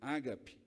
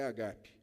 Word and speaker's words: agape: amor é a palavra agape. Algumas pessoas pronunciam errado e dizem ágape. Mas o amor é agape.